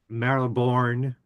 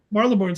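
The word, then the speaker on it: Marylebone: What about um Maribborn, if I'm pronouncing it right, station? Marle Station. Yeah.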